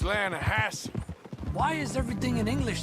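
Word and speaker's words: Lannahechee: the other day I rode down to the Lana Heche River I caught some beautiful steelhead trout you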